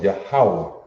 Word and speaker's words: Yahweh: Because this is ya, ha, wa. You see that? Ya, ha, wa. Yahweh. That's the pronunciation.